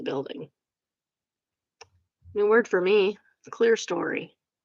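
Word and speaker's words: clerestory: Clear story. Would not have pronounced it like that. I would have pronounced it claristory.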